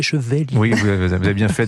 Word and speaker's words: Chevaillier: sa vie à dire c'est pas chevalier c'est cheveller oui vous avez bien